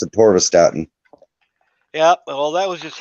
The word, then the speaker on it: atorvastatin: it's pronounced atorvastatin.